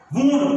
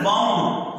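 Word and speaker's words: wound: इसी को कहते हैं, जिसको आमतौर पर लोग कहते हैं वाउंड, ये वाउंड नहीं होता लफ्ज, द वर्ड इज वूंड, the true pronunciation of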